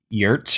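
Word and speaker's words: Giertz: say your last name because it's not pronounced like it's spelled GS or something it's spelled girs but it's like Yurts or something yeah the pronunciation is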